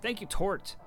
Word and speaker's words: Tort: It's a $21 donation, and Twitch alerts is being thank you Tort, not Torte. I don't care what anybody says. It's pronounced Tort.